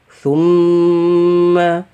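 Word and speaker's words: ثُمَّ: Bagusnya di sini tidak ditekan suara kita. Summa tidak ya. Karena dia didengungkan ya, dan dipanjangkan dengungnya. Maka bacanya yang benar adalah summa.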